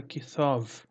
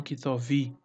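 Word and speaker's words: כתבי: Mas só se pronuncia até essa parte aqui, ó. Então fica kithov, ok? E não kithovi, tá? Então é só kithov, ok? Na pronúncia. Na escrita se tem o iud, né, que para indicar que ele é um possessivo ali de meu, né? Meu livro, kithov, ok? E não kitovi, ó, tá?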